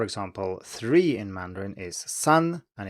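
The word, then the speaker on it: 三: three in Mandarin is sun and it's pronounced with an unvoiced S and if you were to say zan with a vo s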